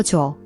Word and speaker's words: 줘: The in is the soft ch sound, like in church but without the t, followed by the w vowel, which is like w in wonder.